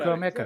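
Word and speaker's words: Chukwuemeka: He pronounced it right. Yeah, Alex got it. Chuko Mecca.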